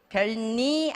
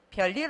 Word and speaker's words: 별일: 겪어야 하는 것들이 있어요 별일 없어 안 하시죠 별일 없어 별미 아니고 별일 없어까지 가죠 부엌 너무 좋아하죠 제가